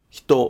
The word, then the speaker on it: ひと: For example, the pitch after "hito" in "wadai no hito ga [the person in the news]'' drops. In the case of "kono hito," "sono hito," and "ano hito", the pitch of "hito'' drops.